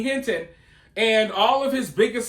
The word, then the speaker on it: Hinton: Is this guy's name Rodney Hilton or is it Rodney Hinton? So apparently it's Rodney Hinton.